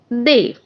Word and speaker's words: des: Spelling is DES and the pronunciation is they.